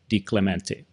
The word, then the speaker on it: DiClementi: I'm your host, and today's guest is Anthony DiClementi. I didn't know if I pronounced that right.